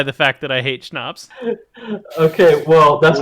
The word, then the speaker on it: schnapps: I said it last time, and I will continue to say it, that schnapps is one of my and can we say it properly?